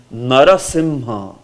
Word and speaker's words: Narasimha: is pronounced as Sim so if you add Nara in front of it narasimha narasimha sometimes narasimha is also written